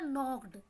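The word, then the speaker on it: knocked: इसी तरह नॉक्ड। ठीक है जी, नॉक्ड में क्या है? हम एन से स्टार्ट कर रहे हैं लफ्ज़ को पढ़ना, और जबकि ये लिखने में के से स्टार्ट हो रहा है। ठीक है जी, के हमने इसकी साउंड नहीं निकाली तो इसको हमने प्रोनाउंस नहीं किया, तो ये क्या है जी? ये प्रोनाउंसिएशन में शामिल नहीं है नॉक्ड की, तो ये क्या है? के साइलेंट वर्ड लेटर है।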